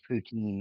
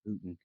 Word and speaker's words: poutine: that it's said or the way that it's pronounced in america it's poutine also it's not yeah i've never heard anybody call it putin putin i've heard one person say putin but